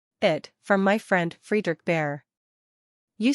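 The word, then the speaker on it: Bhaer: Now don't laugh at his horrid name, it isn't pronounced either bear or beer, as people will say it, but something between the two, as only Germans can give it.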